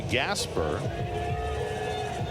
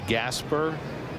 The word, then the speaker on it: Gasper: and you're wondering, Mickey Gasper, not related to Rod Gasper, they spell their name differently. Rod Gasper was G- A S P A R, right? Mickey is E R. pronounced the same spelled differently.